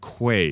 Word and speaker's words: Quaye: time but this is Mr Caleb it's Caleb Quay is that correct okay just want to make